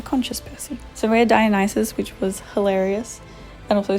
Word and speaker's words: Dionysus: Listen, the D is for Dionysus. That's Dionysus.”